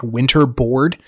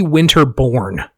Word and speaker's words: Winterborn: It's so when they say his name, it absolutely sounds like Winterboard. It is Ricky Winterborn.